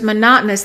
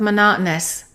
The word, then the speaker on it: monotonous: Number 1, the teacher's monotonous lecture almost put me to sleep. Make sure you reduce the O-U-S of monotonous.